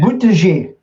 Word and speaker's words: Buttigieg: It sounds like butt edge.